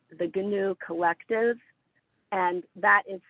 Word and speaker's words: Giniw: And then one group that is asking for people to come and support them is called the GNU Collective, and that is spelled GINIW.